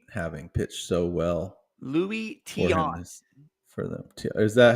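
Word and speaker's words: Tiant: I'm kind of surprised Formidable's last ranked in pitching with Luis Taint having pitched so well. Louis Tion.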